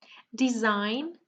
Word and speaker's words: design: Design, the G, of course, is silent.